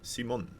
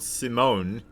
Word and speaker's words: Simon: It's written the same way, but you pronounce it in a little funny voice, like a Dutch person does. So I appreciate the kind words. Simon, not Simone. Simon.